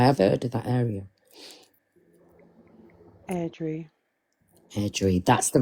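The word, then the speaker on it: Airdrie: Erdri, Sheriff Court. Erdo. I've heard of that area. How do you pronounce that? North Erdri.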